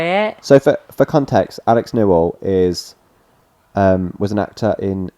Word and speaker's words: Newell: Newell. Oh. Okay. What do you think? I quite like it. Okay. I wasn't overwhelmed by it. So for context, Alex Newell is was an actor in Glee, so played